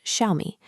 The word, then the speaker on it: Xiaomi: That parent is Xiaomi, pronounced Xiaomi.